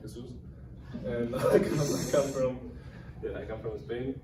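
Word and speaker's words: Jesús: I mean, basically Jesus, but with an accent, so I'm Jesus.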